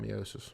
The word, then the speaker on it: meiosis: I'm going to pronounce it meiosis in this class. Some people call it meiosis. Whatever sounds weird, meiosis.